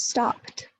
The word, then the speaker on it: stopped: Sometimes it sounds like t. So in stop, the past tense of stop is stopped, stopped. You go from p to t.